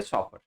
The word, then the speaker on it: chauffeur: पहला वर्ड है शॉफर।